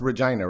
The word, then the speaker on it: Regina: are with our canadian sister who's um it's pronounced regina right it is yes yeah she's in a